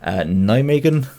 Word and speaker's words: Nijmegen: himself, Automatthic, and his Nijmegen Nuzleafs. I've been told by my Dutch friends that's the correct pronunciation, so if they're messing